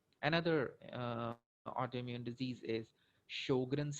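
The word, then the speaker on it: Sjögren: uh autoimmune disease is sjogren's syndrome or there is another pronunciation jogren syndrome so uh anything you want to say the most common is sjogren's syndrome sjogren's syndrome is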